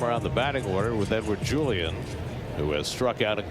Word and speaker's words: Edouard Julien: Edward Julien, who grew up in Quebec City, nonetheless wants his name pronounced Edward Julien, not Edouard Julien.